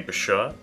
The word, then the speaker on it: Bashur: This time, it's going to be Bashur. I have it on good authority that that's how you pronounce it.